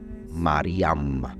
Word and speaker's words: Miriam: de alegría Pero bueno le llamó Miriam que es el nombre de María y en en el arameo y en algunos textos dicen que la pronunciación correcta es mariam para el mundo árabe y Miriam en una forma más arcaica se dice que después